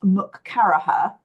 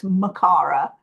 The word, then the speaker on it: Makara: My name looks like it's pronounced Mukaraha, and actually it's Makara.